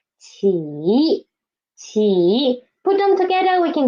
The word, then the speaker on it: 起: Initial is 起 and the final is 一 and the tone is third tone. So 起.